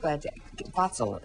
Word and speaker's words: Vatsal: And that's what Vatsal is the correct way to say it.